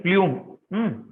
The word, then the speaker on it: plume: Somebody has asked me what is plume. Plume means it is a kind of decorative dress, remember. Somebody had asked me what is plume. The pronunciation is plum actually.